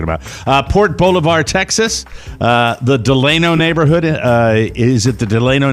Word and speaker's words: Delano: I would have said Delano too, but it's Delano and it's Haleiwa.